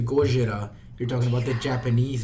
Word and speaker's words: Gojira: I love Gojira. Thank you. I'm not the only fucking person that pronounces it that way. Yeah. I pronounce it both ways.